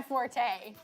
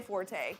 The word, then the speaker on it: forte: and google you say you don't say forte you say fort that's not my fort